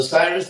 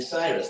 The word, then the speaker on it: Cyrus: And his name was not actually Cyrus. That's the English pronunciation. His name in his own language was actually Kuru, which is one of the most famous king names in the Mahabharata.